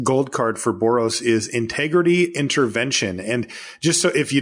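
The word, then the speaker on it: Integrity // Intervention: that's it there's no you just pronounce it like integrity intervention so there you go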